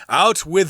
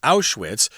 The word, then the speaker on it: Auschwitz: Out with the old and in with the new.